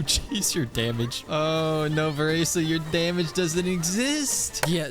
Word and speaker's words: Varesa: apologies I learned that her name is pronounced vessa and then I listened to the Japanese one where it's more so pronounced Vera and that just stuck in my head so for the rest